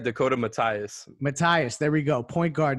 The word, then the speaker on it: Mathias: Matthias, there we go.